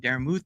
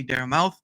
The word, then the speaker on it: Daramouthe: My name is Daramouthe, or Dara for short. Obviously, people still have trouble saying Daramouthe. They say Daramouthe, which is ironic because it's a silent E at the end.